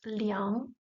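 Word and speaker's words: 两: G so it's still which together is pronounced leang Le third tone leang means two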